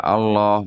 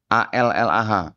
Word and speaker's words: Allah: Di sini mereka juga menggunakan kata A-L-L-A-H, Allah bacanya di dalam kitab mereka. Saya bacanya Allah Pak ya, karena di sini nggak ada tasdidnya Pak. Ya, jadi saya bacanya Allah di dalam kitab ini.